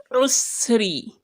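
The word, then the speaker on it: العسر: So ma'al, ma'al, usri, usri, usri, usri. Ayn Dhamma is pronounced as u, not u as in alif or hamza u, no. U. You would feel it in your throat.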